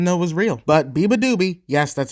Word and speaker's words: beabadoobee: I generally didn't know it was real but BBA doobie yes that's how you pronounce it I'm not making any mistakes or